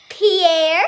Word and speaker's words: Pierre: Pierre, South Dakota, I kind of remember that as like you're piercing your ear.